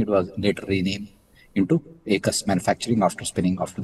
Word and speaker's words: Aequs: एकस एकस एक्चुअली आप सही प्रोनाउंस किया।